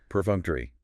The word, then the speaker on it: perfunctory: Perfunctory. Stress on the second syllable. Funk. 4 syllables.